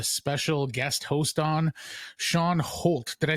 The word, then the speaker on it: Holt: today I have a special guest host on, Shawn Holt. Did I say that right? Holt? Did I pronounce that correctly?